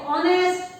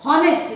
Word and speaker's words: honest: So here, children, though the words are starting with H, like honest or honored, these are starting with H, but H is silent.